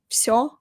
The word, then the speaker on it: всё: «Всё нормально», «Всё хорошо». We spell it like this, with the letter V, «всё». But actually, we pronounce it like «ф», «Всё хорошо», «Всё отлично», «Всё нормально».